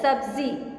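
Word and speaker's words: सब्ज़ी: सब्जी, सब्जी नहीं सिर्फ होता है सब्जी। ठीक है? ज के नीचे नुक्ता होगा।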